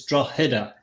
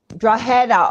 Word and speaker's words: Drogheda: The G is silent, believe it or not. So it's like a H. It's Drogheda. Drogheda.